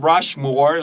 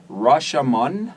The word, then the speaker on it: Rashomon: No, it's not Rushmore like the mount. No, not Rushmore. It's Roshomon. That's exactly what I Is said.